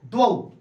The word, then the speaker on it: द्वौ: याद रखिएगा, यह लिखा गया है द्वौ, लेकिन हम इसको उच्चारण करेंगे, शुद्ध उच्चारण करेंगे तो इसको हम कह सकते हैं द्वौ। क्या कहेंगे, द्वौ।